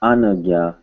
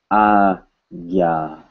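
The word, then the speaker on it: आज्ञा: Not Anagya, but Agya. Agya.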